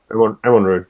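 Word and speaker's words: Amon Rûd: I'm on road. Yeah. Amon Rud, okay.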